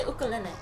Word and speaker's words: ukulele: It's actually ukulele.